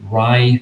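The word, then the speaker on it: Rai: There's some, I don't know if you're familiar with this, but there's one storage of value, which is called the Rye Stones. So it's spelled R-A-I.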